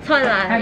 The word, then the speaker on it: 설날: 설날, yeah.